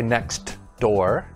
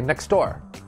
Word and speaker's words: next door: when the sound disappears you see a t or a d in a in a word but we don't pronounce it clearly for example the first one is next door but we don't say next door we say next door